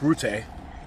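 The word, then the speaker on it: Rutte: And then you have the head of NATO, Mark Route, I just learned how to pronounce his name correctly, saying there's an irreversible path to bring Ukraine into NATO.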